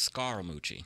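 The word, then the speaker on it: Scaramucci: drop just that simply which it's technically pronounced SCARA Moochie oh I know are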